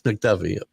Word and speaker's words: McDuffie: I don't want to mispronounce his name. Is McDuffie? Is that right? Yes, McDuffie.